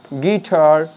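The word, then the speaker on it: guitar: আর এখানে আমরা ইউ এর যে উচ্চারণ সেটা আমরা পাচ্ছি না, তাই ইউ এখানে সাইলেন্ট, তাই এটাকে আমরা বলবো গেজ, গেস্ট, গিটার, গার্ড।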